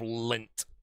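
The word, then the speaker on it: Lindt: Outside of that, if I actually wanted to buy myself a chocolate bar, I would get myself lint. That's spelled L I N DT.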